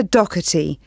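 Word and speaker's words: Docherty: have your full name please yes it's dougherty i'll spell that for you it's d-o-c-h-e-r-t-y thank you and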